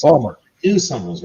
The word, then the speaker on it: Baltimore: Baltimore, Maryland. Pronounced Balmer.